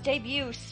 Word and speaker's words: debut: turns big debut boys debuts felt with it I realize it's probably French but why does debut have a teen if we don't pronounce the T why put the T there that's like herb and